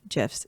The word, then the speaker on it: GIF: Oh, the creator of GIFs said it is pronounced GIF. GIF is with a J and it's peanut butter.